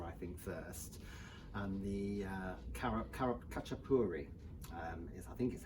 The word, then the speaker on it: khachapuri: we're starting georgia i think first and the khachapuri is i think is how it's pronounced um it's like a cheese bread so